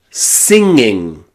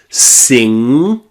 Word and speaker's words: singing: Singing, bringing, hanging, banging. You should be able to hear it twice in these words. You've got singing, singing.